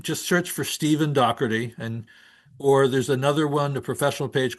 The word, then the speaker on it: Daugherty: this way, but um I was raised with the Irish pronunciation. So, I'm going to try to do this. Um, if you have an Irish accent, it's Dohi. Dohari.